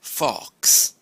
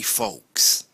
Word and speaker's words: Fawkes: name his surname folks sounds a bit like Fox the animal fo x but actually it's not if you listen carefully the animal is called a fox but his name is Fox his name is spelt fa w ke s guy folks so it's not Fox it's folks yes so that gives